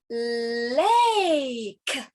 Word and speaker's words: lake: Lake. Lake. Remember, E is silent.